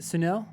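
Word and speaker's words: Sunil: yep um okay uh senil or how do you say your name sorry is it sunel oh you got it you got it you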